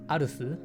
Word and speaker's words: ARS: unfortunately here in Japan ARS is not called ARS they are calling the company arasu which sounds a little bit like ass but yeah it is what it is guys um they are pronounced arusu but I'm of course going to pronounce them ARS in the following video all right guys so